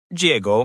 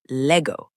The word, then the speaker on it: llego: The LL in Spanish sounds like a Y, so it's llego, not Lego.